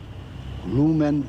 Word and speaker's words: lumen: pronounced this word uh would have been with a fully nasalized N at the end.